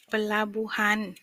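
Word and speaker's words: pelabuhan: คำ ว่า ท่า เรือ ท่า เรือ เปลา บูา เปลา บัน แปล ว่า ท่า เรือ เดี๋ยว เรา จะ ลอง สะกด กัน นะ คะ พี อี เปอร์ แ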